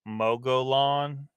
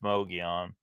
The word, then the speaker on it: Mogollon: It looks like Mogollon, Mogollon, but it's pronounced Mogollon.